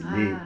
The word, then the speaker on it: léger: exemple l'adjectif : léger, au masculin donc on ne prononce pas le R c'est : léger .